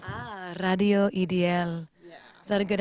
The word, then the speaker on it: Ideaal: We say Ideal Radio, but how do you pronounce it? Radio Ideaal. Ah, Radio Ideal.